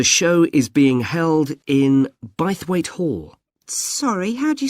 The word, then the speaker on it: Bythwaite: free and the show is being held in bythwaite hall sorry how'd you spell that b y t h w a i